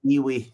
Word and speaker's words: IWI: She called it Ewe. IWI pronounced Ewe. She called it the fruit gun. It's not a kiwi.